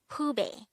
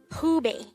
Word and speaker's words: 후배: Hoobie. Hoobie. This is pronounced as a two-syllable word. The first syllable is hu, the second syllable is be.